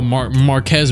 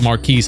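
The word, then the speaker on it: Marques: I was thinking earlier about how Marquez Brownlee spells his name like this and doesn't pronounce it like Marquise.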